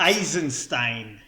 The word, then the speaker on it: Eisenstein: filmmaking Einstein so it's wait is it the Einstein or Einstein had to actually pronounce eisenstein eisenstein okay eisenstein yeah eisenstein it has